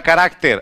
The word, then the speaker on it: carácter: Temos a palavra carácter.